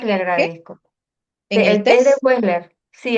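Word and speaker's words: Wechsler: También estaba interesada en el test de Weller para niños, si es posible me lo puede este ubicar, le agradezco. El test de Wesler. Sí, el test de Wesler se pronuncia así.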